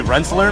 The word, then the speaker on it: Rensselaer: Rensselaer? Yeah. How do you say that? I'm like 3 hours away, so I don't know myself. I'm going to say Rensselaer, maybe?